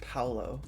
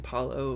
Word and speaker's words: Paolo: Oh, it's pronounced Paolo. I was doing Paulo, which, like, yeah, it could be Paulo, but I thought Paolo, but I just said Paulo.